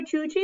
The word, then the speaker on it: Yuyi: life for them where Georgie was from in Mexico the Y's pronounced like a J so that's why her